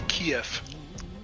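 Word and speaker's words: Kyiv: Well, in German, we just say KF. I don't know how Kief uh people say their own in Ukrainian. I think it's Keev. I think they pronounce a Kev. I think. Don't Don't quote me on that one, but I think they pronounce it Keev.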